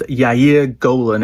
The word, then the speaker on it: Yair Golan: Now, the other person who has caused a storm this week in Israel is a guy, I think it's pronounced Yair Golan, and he is the leader of the Democrats and a former general.